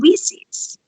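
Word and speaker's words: WiCyS: i like that i i learned about the pronunciation for we sees the other day woman in cyber security is we sees we so i like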